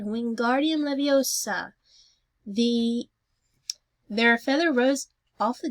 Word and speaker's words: Wingardium Leviosa: "Wingardium Leviosa," he shouted, waving his long arms like a windmill. "You're saying it wrong," Harry heard Hermione snap. "It's Wingardium Leviosa, not Make the guard nice and long."